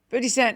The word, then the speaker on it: 50 Cent: coin it's like good you got to end it on the T 50 Cent yeah 50 and when